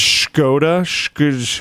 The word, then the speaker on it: Škoda: pronounced Škoda.